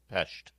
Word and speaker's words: Pest: And are you pronouncing with the appropriate sh in the shesh? Pesht.